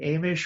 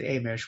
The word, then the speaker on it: Amish: Well, now that we're on pronunciation and clarification, is it Amish or Amish? I pronounce it Amish, which is probably incorrect. I would say Amish is how they're known.